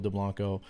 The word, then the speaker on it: Dublanko: it I I believe he he liked it pronounced as Joel deblanco or deblanco see I did it